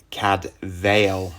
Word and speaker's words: Cadfael: some of these include cadfel cuz cadfel is a Welsh name and it would be pronounced CAD Vil and it just shows